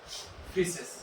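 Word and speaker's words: faeces: क्या बोलेंगे known as फिशेस [नाक से की जाने वाली आवाज़] ठीक है स्पेलिंग याद रखिएगा फिशेस की यहां ए साइलेंट है देन देन इसके बाद आता है रेक्टम।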